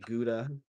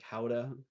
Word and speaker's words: Gouda: And I don't know how you say it. Huda. I call I've called it Gouda. Uh some people say it like howa. However you want to say it.